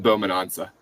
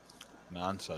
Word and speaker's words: Nansa: Ethan Bowman-Ansa. Nansa, that's how you pronounce it. I butchered it.